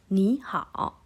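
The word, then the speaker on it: 你好: Oke, ni kita baca nada 2, ni hao.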